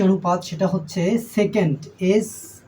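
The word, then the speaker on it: sec: সে এসই সি সে এটার বাংলা উচ্চারণ হবে সেক এবার ছয় নাম্বার যে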